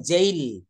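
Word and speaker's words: jail: বলবো জেই যেমন দেখেন আমরা যদি বলি জেল এটা কি লেখা হয় জে এ আই এল এটা কিন্তু জেল না উচ্চারণ হবে জেইল জেইল মানে হচ্ছে কারাগার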